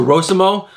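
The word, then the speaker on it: Rossmo: I say Rosimo because it's an O, not a U. So Rosimo.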